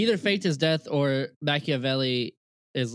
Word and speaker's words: Machiavelli: Machiavelli. Machiavelli.